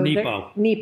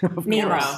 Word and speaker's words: Mark Nepo: So Nepo. Mark Nepo. Did I say it wrong? Nero. I said Nemo.